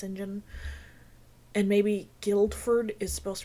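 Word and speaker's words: St John: it might be like Sinjin which is spelled Saint John but it's pronounced Sinjin and maybe Guildford is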